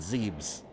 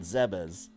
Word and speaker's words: Zebes: know how to pronounce I grew up calling it zebs a lot of people did too but in game they actually name drop it in Other M with voice acting and they call it zebas so and then if